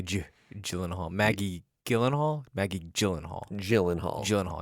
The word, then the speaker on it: Gyllenhaal: saying his name wrong I say Gyllenhaal what were you saying I said it's a hard I said it with a hard G but it is it's probably J Gyllenhaal Maggie Gyllenhaal Maggie Gyllenhaal